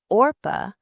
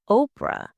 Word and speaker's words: Orpah: The baby was supposed to be named Orpah after a biblical character, but people mispronounced it as Oprah, and the name stuck.